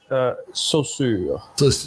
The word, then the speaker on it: Saussure: It's saussure. Yeah, that's the French way of saying it. Ferdinand de Saussure. Exactly. You have to say it like you ate an oyster and it disagreed with you.